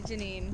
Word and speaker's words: Janine: Janine. Janine? Janine. Alex. Nice to meet you guys. How do you spell that? With a Janine. Janine. Like J9. J9.